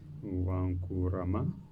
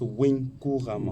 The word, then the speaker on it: Winkourama: Ok, merci docteur Wankourama, si j'ai bien prononcé. Ça c'est mieux parce que les gens torturent vraiment mon nom. Okay, merci. En réalité, ça se prononce Winkourama.